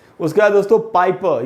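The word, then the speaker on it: Piper: पाइपर भी दोस्तों वही रूल लगा है, आर का उच्चारण हमको नहीं करना है, तो पीटर पाइपर।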